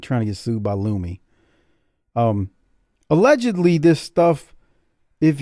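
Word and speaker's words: Lumé: there's a product called Lumi l-u-m-e and it's got the little fancy squiggle above the E I believe you know so it's pronounced as a or whatever loomy so the lady says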